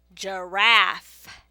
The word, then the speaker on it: giraffe: I hear the J sound at the beginning of giraffe, but if I were to write out this word, giraffe, I would not use a J, I would use a G.